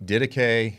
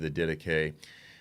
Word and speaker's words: Didache: The Didache, it's pronounced differently by different people, the Didache, the Epistle of Barnabas, the Shepherd of Hermas, and then the writings of Justin Martyr.